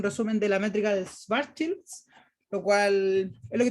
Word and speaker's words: Schwarzschild: Entonces partimos con la métrica de Schwarzschild. Digo Schwarzschild y no Schwarzschild porque es de origen alemán, entonces ellos pronuncian la W como B.